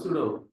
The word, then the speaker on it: pseudo: P S E U D O sudo P silent P silent that's why we are calling sudo column Here we have many